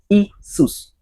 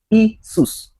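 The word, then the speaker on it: Iesus: So you can pronounce that currently as what? Isus. Isus.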